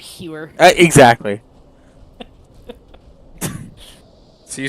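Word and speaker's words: Huer: H-U-E-R. How else are you supposed to pronounce that except Hewer?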